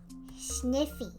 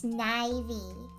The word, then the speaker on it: Snivy: Sniffy. It's Snivy. 'Cause Ivy.